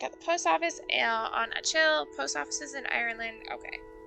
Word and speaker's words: Achill: Kaizo's mother and brother both work at the post office on Achill.